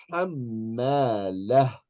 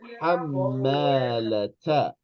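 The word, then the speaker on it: حمالة: you were going to stop at the end of the word, you would say hammalah, as if this ta marbuta was a ha. Hammalah. We're going to ignore the vowel and we're going to pronounce this like a ha with a sukoon on top. Hammalah.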